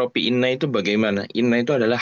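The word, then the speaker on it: إنّ: kedua nah ini apa kalau Inna itu dengan membaca kasrh ya hamzahnya Kalau Anna itu membaca fathah hamzahnya dibacanya Anna Anna nah ini perbedaan Inna dan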